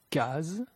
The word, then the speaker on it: case: La lettre S est prononcée comme un Z entre deux voyelles. Asile, asile, usuel, usuel, case, case.